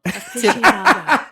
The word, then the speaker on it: aficionado: months ago, that Dad was like, it's not aficionado. No. And it blew my mind. I couldn't believe that I was saying it wrong for 35 years. I hope everyone's saying it right now. Aficionado.